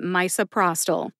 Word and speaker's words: misoprostol: supper either one's fine Pros like prostate and toll like Toledo put it all together and you get misoprostol which syllables get the emphasis two syllables get the emphasis in this drug name as well my and Pros get the emphasis Pros gets the most emphasis see if you can